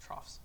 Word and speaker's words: troughs: Yeah, that's how it's pronounced. Troughs.